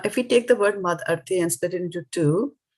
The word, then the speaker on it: mad-arthe: Now, if we take the word mad-arthe and split it into two, right?